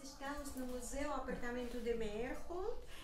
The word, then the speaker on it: Meyerhold: em Sorocaba, mecenas, e ele pronunciava Meyord. Só depois eu vim a descobrir que Meyord era Meyerhold.